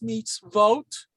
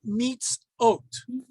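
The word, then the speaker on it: מצוות: spelled this way now how do i know that it's meets vote and not meets oat okay all right the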